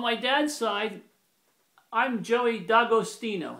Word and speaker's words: D'Agostino: On my dad's side, I'm Joey D'Agostino. That's how you pronounce it in Italian. D'Agostino. But some people say D'Agostino or D'Agostino.